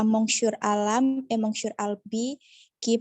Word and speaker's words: monsieur: Monsieur Nasib. Bukan mong, tapi apa? Monsieur.